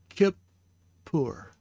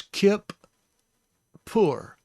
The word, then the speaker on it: Kippur: This is the hirik, so it has an I sound. The kaph has a dagesh, meaning that it is the plosive sound, so it's a K sound, hard K.